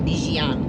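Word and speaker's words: Dilijan: Non è proprio alla francese la pronuncia, ma è Dijan.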